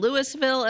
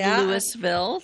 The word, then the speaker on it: Louisville: that aren't from here Lewisville looks like it is spelled Louisville um but it is not I assure you it is said Louisville so um just because they say it differently in Kentucky does mean we have to say it like that here yeah we're Louisville uhhuh